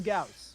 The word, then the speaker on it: Gauss: It's actually pronounced go. No. Right, yeah. Pronoun. Les go canon. C'est go, canon. It is Gauss.